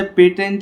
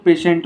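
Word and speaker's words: patients: एन टी एस पेशेंट इसे पेटेंट नहीं बोलते इसे पेशेंट बोलते हैं क्या बोलते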